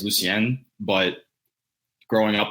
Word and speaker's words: Lucien: your name say actually Lucian uh so that's the American way to say it so my dad's side of the family they're they're Haitian so the correct way to say it is Lucen but growing up like